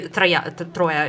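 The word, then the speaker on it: Троя: Troya is how we would say it. So Troy Tans. Anyway, different pronunciation.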